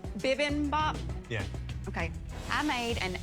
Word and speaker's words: bibimbap: you tell me how to say it correctly bibimbap yeah okay i made an asian inspired shrimp